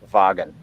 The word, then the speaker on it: Wagen: folk meaning people uh and wagon of course uh starting with a w uh which is pronounced as a voiced labiodental fricative in german wagon uh and so this